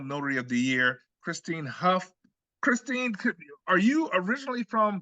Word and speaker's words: Hough: We're so fortunate today, finally able to get the 2023 Notary of the Year, Christine Hough. Am I pronouncing that right? Hough, yes. Hough.